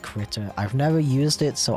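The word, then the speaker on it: Krita: And yes, I've been told it's pronounced critter.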